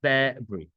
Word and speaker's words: debris: Another slight concern 仲有一個好細嘅關注點喺邊咧，就係 submerged 即係浸咗喺水嘅意思。Debris 廢物，呢個 S 唔發音嘅，讀 debris 一啲碎片，浸咗喺水底嘅碎片係會 floating into the blades 浮走入個 blades.